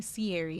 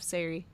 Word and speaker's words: Sari: I keep calling Sierry instead of Sari. My brain is adding additional syllables.